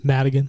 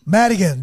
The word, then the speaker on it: Madigan: have what's your last name again Madigan Madigan there you go oh my God I'm gonna have to spell that and we have Josh Rael big round